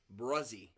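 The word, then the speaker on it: Bresee: is gonna be Brian brozie did you know that it's pronounced that way b-r-e-s-e-e bruzzy did Keely Ringo go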